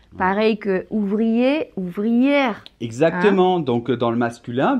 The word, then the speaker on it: ouvrière: le 10 grammes et dans ce cas on doit dire boulangère ouvrière mais il n'ya pas